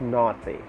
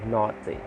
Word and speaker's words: naughty: last then we have naughty naughty naughty questions and a u g h t y naughty with the r and